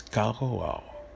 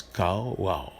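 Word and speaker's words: קָרָא: Ici, le mot invoquer, le mot hébreu utilisé, c'est le mot qu'on prononce Kara, qui s'écrit Q-A-R-A, mais qui se prononce Kara.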